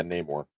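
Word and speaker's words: Namor: __ ] that pronunciation is it name or Namer I think it's an Amour let me see it yeah name more yeah I was saying name I always get that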